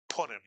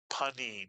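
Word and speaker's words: פנים: Panem in Hebrew means face. Face. In Yiddish we tend to say pim, but in Hebrew it is panim.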